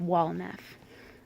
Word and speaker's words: Walnef: The next name would be the wise old man that every hero needs, Walnef. And his name sounds just like how it's spelled, and is spelled just like how it sounds. Just Walnef.